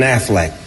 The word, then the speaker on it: Affleck: in any motion picture Ben Affleck be an Affleck my fault sorry about that b Ben Affleck